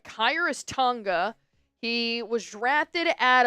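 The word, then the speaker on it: Khyiris: How do you pronounce his his name again? Hi, Chris Tonga. Um, It is uh Kyus.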